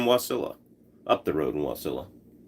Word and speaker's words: Wasilla: Up the road in Wasilla. Or Wasilla. If you want to put the wrong emphasis on the wrong syllable.